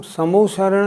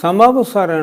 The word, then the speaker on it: समवसरण: सर्वप्रथम, तीर्थंकर भगवान की सभा को समोशरण नहीं, बल्कि समवसरण कहा जाता है। हम सभी इसका उच्चारण इसी तरह करते हैं। समोशरण नहीं, समवसरण।